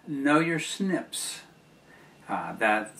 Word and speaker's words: SNP: recognize and pronounce uh the practice has been to put a little i between the uh n and p and make it spell snip and they are so